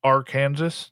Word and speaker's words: Arkansas: available in rolls and bags uh sir that's pronounced R Kansas just want to CL actually I will tell